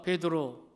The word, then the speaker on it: 베드로: 여기서 우리가 베드로, 이 베드로는 우리말 발음입니다. 헬라 발음은 페트로스, 그리고 아람어로는 게바입니다.